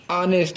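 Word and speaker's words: honest: इसके बाद है हानेस्ट, यहाँ भी हम हानेस्ट लिखते हैं लेकिन पढ़ते हैं ऑनेस्ट, एच को हम क्या करते हैं यहाँ पर साइलेंट कर देते हैं और जो बोलना होता है सिर्फ हम ऑनेस्ट ही बोलते हैं, ऑनेस्ट मिस होता है ईमानदार।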